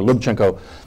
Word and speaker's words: Lubchenco: Lubchenco, excuse me, I got it right this time. First syllable is the emphasized one. Dr. Lubchenco, as the administrator of NOAA, that is, she's in the government.